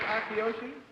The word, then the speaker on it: Akiyoshi: Toshiko Akishoshi. Is that right? How do you pronounce it? It is Akiyoshi?